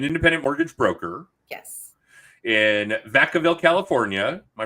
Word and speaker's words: Vacaville: In Vacaville, California. Am I pronouncing that? Is it Vacaville? It's Vacaville.